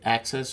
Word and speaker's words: AXS: you know they've already have a access or AXS ta excess and on